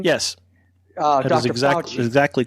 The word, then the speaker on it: Fauci: Fauci. Is that how you say his name? Yes. Dr. Fauci.